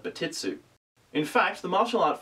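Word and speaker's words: Bartitsu: in the martial art Barret su commonly believed to be a mispronunciation of bat it's ooh in fact the martial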